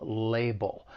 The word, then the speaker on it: label: Now, for pronunciation, the word has two syllables. The stress is on that first syllable label. The other thing I'd like to point out is the second syllable, it ends with that dark L, which is that sound.